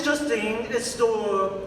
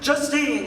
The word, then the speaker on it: Justine: Oh, my name is Justine. Justin? Justine. It's spelled differently. Like Spell. J-U-S-T, 2 E's, and an N. I'm Justin the Teen.